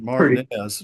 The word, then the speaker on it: Martinez: is going to laugh at It should be Martinez, but we pronounce it Martinez.